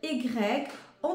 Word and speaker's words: ي: va se prononcer ye ça se prononce comme y de le mot le prénom de Yanis ya ya Yanis ou de le mot par exemple yoga yo yo yoga on entend bien le